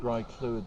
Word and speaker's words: Graiglwyd: the lake well being an irishman i don't pronounce it that well either but it's dry fluid springs that sounds good to me that's better